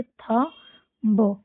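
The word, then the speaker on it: thumb: बी को silent करके हम इसको क्या पढ़ेंगे? थ ब थंब।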